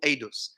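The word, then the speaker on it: עדות: These ones are called edus. Edus means testimonials. Edus. I would probably spell that in Hebrew, it is spelled ayin dalet vav taf, edus.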